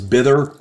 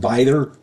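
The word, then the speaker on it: Bither: mispronounced her name I I said it was bther and it's not it's pronounced byther apologies there um her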